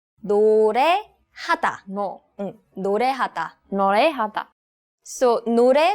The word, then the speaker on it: 노래하다: It's 노래하다. 노래하다.